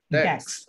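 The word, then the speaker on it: DAX: ঠিক আছে, একটু প্রোনাউন্সিয়েশনটা বলবেন, কি ফর্মুলা বলছেন? ড্যাক্স, ডি এ এক্স, আমি এখানে লিখে দিচ্ছি, জি ডি এ এক্স।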